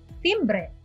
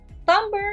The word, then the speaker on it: timbre: e how do you pronounce this word others pronounce it as timbre but the right pronunciation is tumblr tumber is the unique quality of a sound or